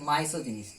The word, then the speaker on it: misogynist: এটা উচ্চারণটা হচ্ছে misogynist, MISO, misogynist.